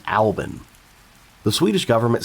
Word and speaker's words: BRFXXCCXMNPCCCLLMMPRXVCLMNCKSSQLBB111116: Pronounced Albin.